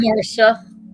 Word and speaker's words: Marcia: Or is it Marcia or Marsha. Marsha? Spelled Marcia, but it's pronounced Marsha.